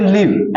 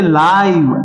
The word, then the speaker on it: live: इसको बोलेंगे लिव, LIVE, लिव, और इसको बोलेंगे लाइव, LIVE, लाइव, है ना।